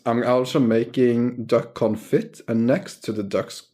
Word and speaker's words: confit: to get this duck confit going. I'm sorry. I'm just loving how you keep saying duck confit. It's killing me. How is it said? Confit. You don't pronounce the T in français.